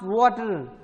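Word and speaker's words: Watir: Then Water, pronounced Water, open source Ruby libraries for automating web browsers.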